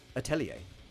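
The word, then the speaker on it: Atelier: I don't know it's let me look how to pronounce yeah it is a you're correct it's a French ter it's a yeah that's how I always pronounce all right atellier I will have that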